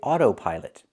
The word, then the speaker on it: autopilot: We say autopilot. Auto. We need that long O like no and go.